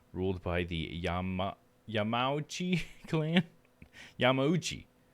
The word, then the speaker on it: Yamauchi: Yamauchi. That's how it would be. Ooh, that's the syllable.